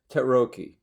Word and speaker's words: Tarocchi: No, see, the real name of the deck is Tarocchi. Tarocchi in Italian, but everybody's mispronouncing that.